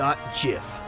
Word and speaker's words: GIF: pronounced GIF huh do JF like the peanut butter the Creator said so that's dumb it's Graphics